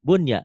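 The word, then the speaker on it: بُنْيَانٌ: Nah, maka harus dibaca kinwanun, sinwanun, dunya, bunya. Tidak dibaca idgham.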